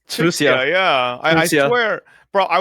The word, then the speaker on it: Chixia: Chisha.